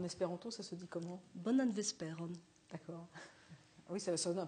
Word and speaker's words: bonan vesperon: Bonan vesperon. D'accord. Oui, ça sonne un peu latin, ceci dit. Oui, parce que l'accent tonique tombe sur l'avant-dernière syllabe de manière systématique.